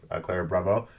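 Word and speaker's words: Ciara Bravo: So the person who plays Emily, the love interest, played by Clara Bravo. And that's how you say her name, Clara Bravo.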